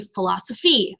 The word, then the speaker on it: philosophy: And think about when you say philosophy, philosophy, philosophy, right? You come up, meaning it's stressed.